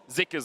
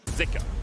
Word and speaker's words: Zika: and it was pronounced zuka on the LPL English broadcast but we have seen some people saying that in Chinese actually pronounced more with an i zika so I think for